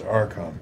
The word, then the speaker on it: Arkhan: Well, first of all, it's Arkhan. Arkhan, sorry. It's a hard K.